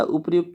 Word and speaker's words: उपयुक्त: उपर्युक्त नहीं होता, उपयुक्त होता है, ठीक है, उपयुक्त, ऐसे हम इसको उपयुक्त पढ़ते हैं, यानी कि इसका रो थोड़ा साइलेंट होता है, उपयुक्त, ठीक है, उपयुक्त।